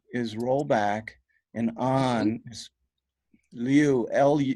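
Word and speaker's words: 履: is press u is roll back and on lu lu it's usually it's pronounced Lu it's spelled Lu or Liu sometimes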